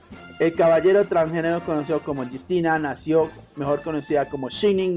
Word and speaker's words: Justina: Justina, pronunciada como Justina, fue más tarde admiradora